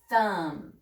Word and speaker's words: thumb: remember in B mmm just hmm the beat is silent we just say mmm so blend um say it fast thumb like your thumb we don't say thumb but